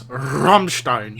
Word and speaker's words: Rammstein: here pronounced properly oh I love Rammstein no it's Rammstein nein Raphael you're number